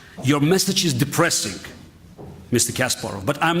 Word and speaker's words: Kasparov: when i hear that every speaker you know profoundly says kasparov which is a russian pronunciation americans always say kasparov and uh i understand